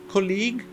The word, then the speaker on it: colleague: tá próximo col colle mais uma palavra terminada em e inclusive que você não pronuncia aqui a trans interação né no alfabeto fonético você vê que não pronuncia colleague é o teu colega